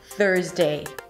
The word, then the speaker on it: Thursday: It's not there, it's not thur, it's a soft TH and then you pull it for an R and push your lips forward. Thur, thur. And then again a Z sound and the day.